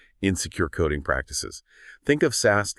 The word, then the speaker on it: SAST: Static application security testing, or SAST, pronounced SAST.